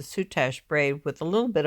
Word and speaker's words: Soutache: The design is made from, I guess you pronounce it Soutache braid with a little bit of embroidery in between.